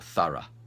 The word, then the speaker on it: thorough: U for through and we have the sound ah for thorough or burra and the best way